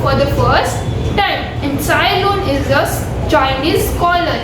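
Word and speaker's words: Tsai Lun: સાયલુન, TSAI. Over here T is silent. Sailun.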